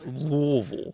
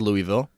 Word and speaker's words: Louisville: it's wrong incorrect yourself you gotta put some like throat into it it's Louisville it's Louisville no one says Louisville no my dad is